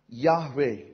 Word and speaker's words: Yahweh: jacob are not consumed this word jehovah in the bible yhwh yahweh the better pronunciation literally means the one